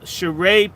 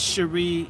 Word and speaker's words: Cheree: email and then I actually have sh shereé at gmail okay so let's stop for one second it looks like it's Sheree it's pronounced shereé c h e r e